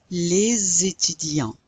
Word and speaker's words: les étudiants: And the students, les étudiants. Les étudiants. That's called a liaison.